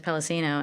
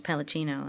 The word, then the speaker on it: Palacino: Spanish-ish origin also, so the Spanish way of pronouncing it is Palacino, and then the Italian way is Palacino, and both are fine.